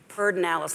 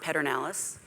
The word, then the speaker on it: Pedernales: many things in Texas it's spelled differently than it's pronounced perdón Alice not Pedernales we are the largest